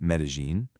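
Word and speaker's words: Medellín: That's pronounced Medellin.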